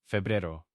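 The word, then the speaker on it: febrero: It actually looks very similar to English, but again, listen to the E sounds and that R sound. Febero. So, a for both E again. And another single R.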